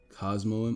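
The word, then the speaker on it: Cosmoem: have Cosmo cos cosium cosm Cosmo it's Cosmo that's how you say it it's got teleport so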